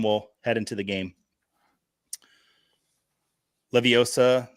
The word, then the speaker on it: Leviosa: Leviosa, not Leviosa. Did I say that correct? Leviosa, not Leiosa.